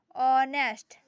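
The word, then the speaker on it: honest: उसका प्रोनाउंसिएशन नहीं होगा। For example ऑनेस्ट for example ऑनेस्ट एच ओ एन ई एस टी।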